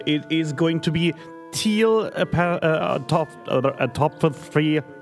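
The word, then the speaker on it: Teal'c: No, it's it's pronounced teal.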